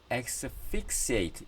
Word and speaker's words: asphyxiate: 그 다음에 asphyxiate 이게 F 발음 난다 그랬죠? asphyxiate 질식시키다.